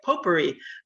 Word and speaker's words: potpourri: talk it's kind of a poor potpourri that's how you say it potpourri of uh topics uh